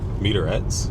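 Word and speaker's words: Met-Rx: So while I was at the store, I ended up buying a meterettes bar. I think that's how you say it. The bars are spelled something like METR-X.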